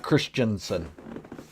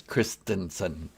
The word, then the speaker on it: Christensen: baby that's right christensen everybody mispronounces that it's not christiansen it is christensen and if i ever